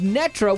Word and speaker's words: Netra: And today our pilot is Netra, which rhymes with Petra, which would be good.